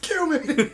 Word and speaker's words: cumin: It's pronounced cumin.